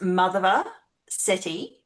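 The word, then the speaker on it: Madhava Setty: So it's pronounced Madhava Sethi, but it's spelled Madhava Oh, yeah. Setty, MD. Lovely man.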